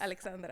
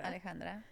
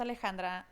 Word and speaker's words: Alexandra: It's spelled with an X, but it's pronounced Alejandra.